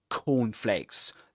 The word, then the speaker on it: cornflakes: These guys said like cornflakes, things like cornflakes. So he pronounces two C sounds, but the first one is unreleased. He doesn't release the air at the end of it.